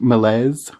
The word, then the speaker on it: malaise: I have a hard time, honestly, with words that are taken recently out of French, because malaise is how you'd pronounce it if it was French.